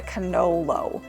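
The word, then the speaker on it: cannolo: to say it properly, the singular version is a canolo. So you would say, I'm going to have a canolo. Canoli is the plural version, which I mean you're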